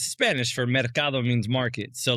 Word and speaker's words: Mercado: Mercado, right? Is that how you pronounce it? Yep. Mercado, okay. like the market.